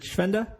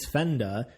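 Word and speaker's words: Švenda: Is it Schwenda? Is that how you say it? Yes, that's the Czech pronunciation. I just learned that is the Czech. I've been calling you Svenda, this Americanized version.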